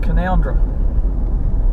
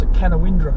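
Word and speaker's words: Canowindra: road to Cara called conundrum you always know who the tourists are cos they pronounce a can of Indra fans of Inspector Morse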